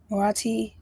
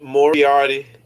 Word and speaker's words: Moriarty: I think I'm pronouncing it wrong. What's the word? You know it. You is well, Marathi. Marathi the Patriot. Um, well, yeah, that's the show. I started it for some reason. Moriarty, Patriot.